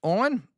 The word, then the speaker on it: Eoin: Owen, would you be surprised that I actually knew how to pronounce his name? Eoin. Eoin is another way to spell Owen.